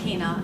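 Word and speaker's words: Chyna: Okay, my name is Kina, and I'm running for Libertyville Village Trustee. My last name is spelled C-H-Y-N-A, and everyone asks what that is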